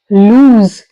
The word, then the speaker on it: lose: with the z sound lose and here we are ending with the S sound loose now first one meaning